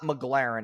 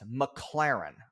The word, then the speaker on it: McLaren: Okay, so this part pisses me off because he says the name wrong like 8 times in a row. It's not McLaren, it's McLaren.